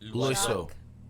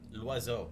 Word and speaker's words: Loiseau: Loiseau. How do you say it? L'oiseau. Loiseau. It means the bird.